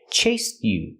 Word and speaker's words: chased: chased you last night the e is pronounced with a t in chased chase you it's a stop te you can say chase you or you can link the sounds and say chased you you can make the